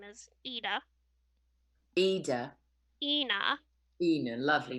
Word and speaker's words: Eithne: It's Eithne. Pronounced Ina. Ina.